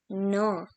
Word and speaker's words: neuf: Now we have 9, which is called as neuf. And at last comes 10, which is pronounced as dix.